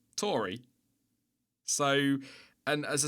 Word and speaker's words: AlphaTauri: are people saying it's Tauri because of the Italian pronunciation, but then there are people saying that it's named after the Taurus constellation, and we say Taurus, which would make it Tauri.